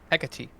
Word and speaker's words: Hecate: I'm pronouncing the card wrong. Hekuti? Hekuti. I believe it. Yes. Hecate. Yes, that's the pronunciation.